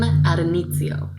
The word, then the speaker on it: Addonizio: And so the poem that I read was called What Do Women Want by Kim Addonizio.